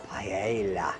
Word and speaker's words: paella: You notice my Spanish pronunciation, paella.